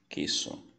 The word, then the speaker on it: queso: Como exemplo, eu vou usar a palavra queso. Perceba que o U não é pronunciado, não existe trema para a letra Q, apenas lá para a letra G. Então se diz queso, que a tradução seria queijo.